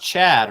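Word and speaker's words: Ch'od: It was like, I thought they were going to come in all animated and, you spelled it actual chode. It's pronounced Chad, right? No, it's pronounced Chad. There's an apostrophe in there.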